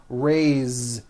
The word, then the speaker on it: raise: a bit unusual because even though it is spelled with an S it's pronounced with a voiced Z raise so we say I